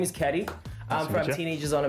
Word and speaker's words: CADDY: It's your boy C-A-D-D-Y, pronounced Caddy, yet again on another mission.